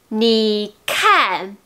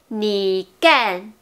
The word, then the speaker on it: 你看: Ou bien c'était 你干. Ok, K est le son d'expiration, c'est-à-dire quand vous prononcez kan, vous sentirez l'air sorti de la bouche.